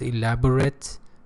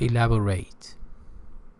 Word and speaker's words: elaborate: Pay attention, elaborate as an adjective. It is pronounced elaborate as a verb, elaborate.